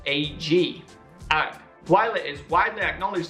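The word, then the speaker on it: UGG: Australian shoe brand uh its name is pronounced AG while it is widely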